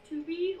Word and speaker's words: tube: It looks like it's tubey. Like I know that in French you don't pronounce the last. Tube. That's not to be, it's tube. The U is also pronounced in a different way.